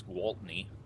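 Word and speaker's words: Gaultney: off now and believe I've been saying the five cars name wrong it's Gault knee so I will try not to screw that up anymore Walt knee in the 5 car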